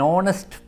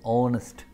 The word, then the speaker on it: honest: will be silent an honest boy oh nestle honest here h is silent so we are using